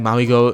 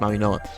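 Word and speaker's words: Mauigoa: I think there's some blue chip talents in u I think Maui Go Maui Noah. I I just recently learned and it's pronounced Maui Noah um because they pronounce that Samoa culture I think.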